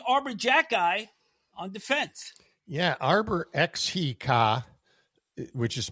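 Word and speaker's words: Arber Xhekaj: Yeah, Arbor Xhekaj, which is pronounced Xhekaj for whatever reason.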